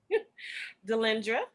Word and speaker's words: Delendra: Spell it for us. Delendra, which is Delendra. You can find me on all social media with that name, either one of them. Okay. Delendra.